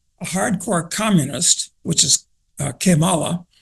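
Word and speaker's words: Kamala: hardcore communist which is kimala I'm pronouncing it in the Spanish way incidentally which means how bad uh and you know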